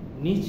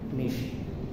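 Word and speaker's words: niche: চিনতে হবে নিশ market N আই সি এইচ ই নিশ নিচ না উচ্চারণটা হবে নিশ নিশ মার্কেট প্রোডাক্ট হচ্ছে এমন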